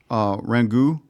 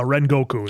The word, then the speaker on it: Rengoku: I did like the whole episode with our Rengu Rengoku. I said it right? Uh Rengoku is how it's said.